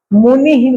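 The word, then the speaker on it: मुनिः: का उच्चारण वैसे ही विसर्ग के ठीक पहले जो भी मात्रा लगी है उसका उच्चारण वैसे ही होगा मुनिह मुनि लिखा है तो मुनि ही बोलेंगे मुनि ही छोटा सा एकदम ही पूरा नहीं बोलना है पर समझ लो उसमें हलंत लगा है मुनि ठीक रामः इसमें अ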